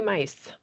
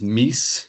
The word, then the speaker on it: Meese: Mice. Hello, everyone. It's Meese is my last name.